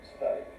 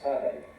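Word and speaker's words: 사다리: That's the standard rhythmic pattern of Korean sadari, meaning ladder, climbing ladder. Second syllable is stressed and also pronounced long. But many Koreans, especially youngsters, pronounce it as sadai, with a stress on the first one.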